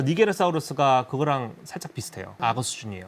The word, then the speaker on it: 니게르사우루스: 니제르죠, 니제르. 라틴어식으로 발음하면 이제 니게르사우루스가 되는 건데 머리가 되게 특이해요.